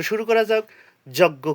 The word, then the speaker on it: যজ্ঞ: যজ্ঞ কি? যজ্ঞ, যার সংস্কৃত উচ্চারণ হবে যজ্ঞ।